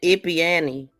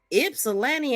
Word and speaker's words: Ypsilanti: Ypsilanti is spelled different than what it sounds like, but that really stuck out.